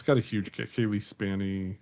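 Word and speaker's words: Cailee Spaeny: It's got a huge Kaylee Spanny. I can I never say her name right. So, Kayie Spy. Yeah. Spany. Yeah.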